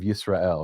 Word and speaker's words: Israel: Well, and it's weird that we pronounce it, Israel Instead of Yisrael, right? or Jisrael, because if Yeah. we're gonna take the y and make it a j.